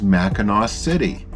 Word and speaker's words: Mackinac: across the bridge is Mackinac City and yes it is spelled differently than the other mackinaws the bridge the island but it's all pronounced the same it was a cute